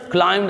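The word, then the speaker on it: climbed: Bear पढ़ना है, towards पढ़ना है, distress, trouble, क्लाइम्ड अप, एम बी इकट्ठे आए हैं तो ये बी साइलेंट कर जाते हैं एम के बाद, ठीक है, ये याद रखना है।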